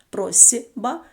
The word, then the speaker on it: просьба: собі теж дзвінки наприклад в слові просьба просьба пишемо літеру с але під впливом звука б дзвінкого звук с глухий вимовляється як парний йому з таке саме явище є